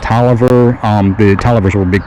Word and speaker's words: Taliaferro: tobacco warehouse robert taliaferro which that would be pronounced toliver um the television were